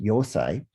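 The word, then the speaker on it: Eisai: until several centuries later with aesai also sometimes pronounced yosai who was a zen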